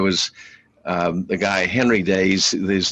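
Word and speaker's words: Deas: that you're pronouncing is ds is actually pronounced days d-a-y-s okay we'll see i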